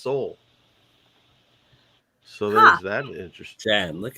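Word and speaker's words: Sahul: australia was originally uh s-a-h-u-l pronounced seoul so there's that interesting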